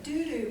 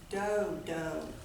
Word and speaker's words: dodo: But the teacher kindly said, "Mindy, I believe it is pronounced do-do, with a long O sound."